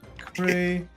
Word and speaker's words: fiacre: Fiacre pronunciation.